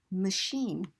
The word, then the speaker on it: machine: as in chaos or CH can be an chefs sound as in machine or it could have